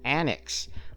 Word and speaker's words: ANACS: Okay, first of all, we are going to be taking a look at Annex, which is spelled ANACS.